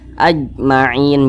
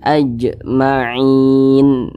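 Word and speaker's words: أجمعين: salah satunya huruf Jim Jadi kalau dia sukun atau sebab disukunkan maka dipantulkan cara bacanya maka ini Jim sukun dipantulkan AJ AJ mantul seperti itu jangan dibaca seperti ini ajmain jangan tapi dipantulkan ajmain seperti itu kemudian dibaca panjang perhatikan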